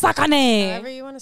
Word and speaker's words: Saucony: It's Sakani.